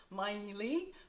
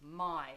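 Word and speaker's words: Maille: have I know it's it's written my Ely my Neely but it's actually pronounced my it's a French mustard it is my favorite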